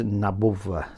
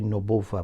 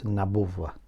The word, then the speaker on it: نبوة: As you know, the correct pronunciation is Nabuwa. Some people say Nubuwa, but it's Nabuwa.